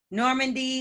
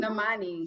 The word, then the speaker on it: Normani: Normandy, who they was like, is that how you say her name? That child, they all video birds. Yeah, she's a whole singer. Like she got a whole group. Normani. She used to Normani. There we go.